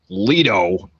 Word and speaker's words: Leto: it we heard a lot about Jared Leto pronounced Leto well we know why you would thought about